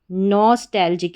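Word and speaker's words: nostalgic: फिर है TAL, tell, नॉस्टैल और GIC, जिक, इसको जिक पढ़ दिया। NOS, नॉस्टैल और जिक, नॉस्टैल्जिक। इस तरीके से इस स्पेलिंग को हमने 3 पार्ट्स में डिवाइड किया, नॉस, फिर टैल और जिक। तो क्या बन गई पूरी स्पेलिंग? नॉस्टैल्जिक, नॉस्टैल्जिक। नॉस्टैल्जिक का हिंदी अर्थ होता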